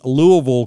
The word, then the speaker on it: Louisville: in Louisville, Kentucky. That's the proper way to say it. Louisville, not Louisville, not Louisville, Louisville.